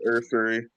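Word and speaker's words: Ersery: I don't know how to pronounce it, but Ursary, the offensive tackle out of Minnesota. Yeah, So, Ariante Ursary.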